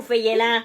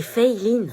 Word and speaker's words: Feyelin: Elle est où, Feyelin? C'est Feiline. Feyelin. Feyelin. Feyelin? C'est Feiline. Bah, c'est écrit Feyelin. Oui, mais ça se prononce Fei, c'est américain en fait, et Line parce que c'est asiatique.